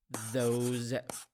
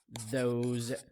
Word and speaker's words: those: a tip here the s in these words pronounced as as z sound those those those these so we have this that those